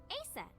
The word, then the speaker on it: Isis: ancient Egyptian, it's pronounced closer to Scan is going nuts Iset again. or Aset.